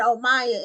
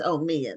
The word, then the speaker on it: Omia: It's just, I had Omaya in my mind already. And so I had to restructure my mind that it's Omia.